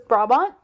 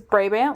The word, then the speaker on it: Brabant: is turns out uh it's a short a so it's brabont versus bray band which is what i